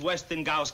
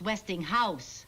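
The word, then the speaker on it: Westinghouse: the lowest prices where did you get this Weston Gus catalog Weston Gus it's not Westing Gus it's westing house house no they Westing Gus Gus how do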